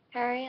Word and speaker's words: Harry: Niall like Mile, Zane like Rain, Harry like Darren, Chris, Chess, Louis, the S is silent, Louis, Liam, duh.